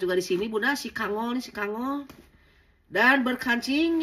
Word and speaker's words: Kangol: Apakah kenggol, kenjol, apa benjol? Pokoknya mah kangol aja dibacanya Bunda.